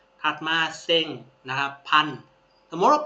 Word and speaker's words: 千: นะ ครับ เฮียกุ แปล ว่า ร ถัด มา เซ็ง นะ ครับ พัน สมมุติ ว่า 1ัน เยน เรา จะ พูด ว่า เซ็ง eng เซ็ง eng นะ ครับ เอ เนี่ย ก็